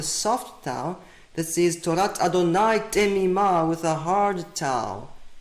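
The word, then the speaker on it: יהוה: This tells us this was not pronounced as Yehovah Kol Bechor. This was pronounced as Adonai Kol Bechor with a hard Kaf.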